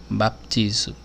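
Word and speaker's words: βαπτίζω: Mateus a palavrinha que significa batismo ela se pronuncia para piso baptizo de ela significa é submergir mergulhar é cobrir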